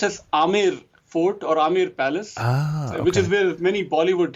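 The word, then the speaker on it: Amer Palace: be the great huge large palace called the Amir Palace unfortunately it is spelled as a m b r so it is pronounced as Amber Palace which is uh very incorrect way of pronouncing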